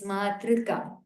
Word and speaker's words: मातृका: What I am specifying is, specifically I am saying do not pronounce it as U, not through, but thr. There is no U ki matra there, but it is r only. Thr.